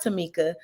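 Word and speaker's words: Tomeka: on the screen and my mom did name me and spelled my name a little different but it is pronounced Tamika so uh t-o-m-e-k-a and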